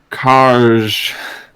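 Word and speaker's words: Kaahrj: It's pronounced Karj. Oh, it's actually set. Okay. That's the flavor text. Yeah, good one. Mind Flayer Karj. Kaharj? Mind Flayer KAHRJ.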